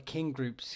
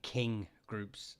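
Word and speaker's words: kin groups: they think I'm saying King groups uh and it's it's King groups like your kith and kin um and they're they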